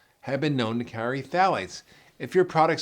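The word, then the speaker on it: phthalates: the second endocrine disruptor to look for is phalates which is spelled p HT h a l a t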